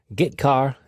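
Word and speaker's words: getchar: common c language character i o functions are git car and put car that's how i pronounce them git car fetches a character from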